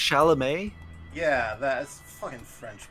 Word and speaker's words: Chalamet: pronounced Chalamet.